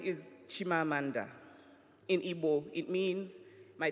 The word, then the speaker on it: Chimamanda: very good to be back my name is shima Amanda in Ybor it means my personal spirit will